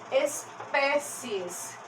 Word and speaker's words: espécies: agora pouco agora que a palavra espécies gente espécies pé é a sílaba mais forte aqui dessa palavra que não é feia é pé é só aberto só pode ser o acento agudo gente até agora eu